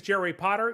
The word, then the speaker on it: Potter: My name is Jerry Potter. Yes, it rhymes with the boy wizard, host of the Social